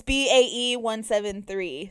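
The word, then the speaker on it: BAE173: okay they are incredible how you pronounce it is bae-173 i i was like bae 117.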